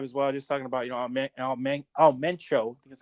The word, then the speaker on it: Mencho: Just talking about Mencho.